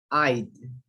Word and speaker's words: I'd: If I would have, if I would have had, If I'd. Okay, when you say I'd, you don't say I'd. It's like a D.